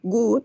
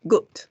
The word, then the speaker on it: good: Then good, no es good, pero good. Sí, tampoco hacemos una U exagerada, pero decimos good.